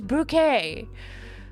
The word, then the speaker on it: Bucket: Mrs bouquet you know her last name is spelled bucket but she's like no no it's proun bouquet um that's basically what my